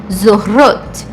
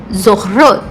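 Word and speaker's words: זוכרות: É um pouquinho difícil de pronunciar. Zorrot, zorrot. Então, eu tenho aqui a mesma dificuldade. Eu tenho que marcar o R do Raf com um som mais forte. E depois eu tenho que pronunciar o Reis, trazendo um som assim para a ponta da língua.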